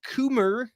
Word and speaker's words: Coomer: uh Jocelyn is saying Eric Coomer rhymes with groomer uh director of product